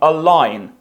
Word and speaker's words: align: лівому краю, по правому align. Не читаємо G.